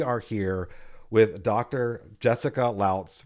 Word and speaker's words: Lautz: Jessica Lz rhymes with shouts I've been told.